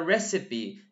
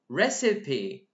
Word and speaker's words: recipe: word means recipe we call it as a recipe this is how we pronounce it recipe you know recipe okay let's get back to